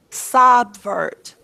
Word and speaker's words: subvert: or second mm-hmm okay what vowel sound you hear in the first syllable sub sure what's a short o what is the short o sound saw subvert subvert is that sound natural know how can I you make a short o sound when does that ever happen never so what sound are you here here and sub yeah short you worship on the sub is short you or schwa verte what